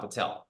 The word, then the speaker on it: Patel: Hey, at least I'm not, you know, my last name's not Patel. It doesn't rhyme with hotel and motel.